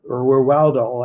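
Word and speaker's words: Ruhwedel: Chad Rudwill is Rudwill. I never pronounce his name correctly.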